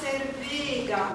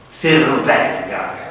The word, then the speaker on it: Servega: Hai detto una E con l'accento acuto, in questo caso è un dittongo, per cui Servega, con la E aperta.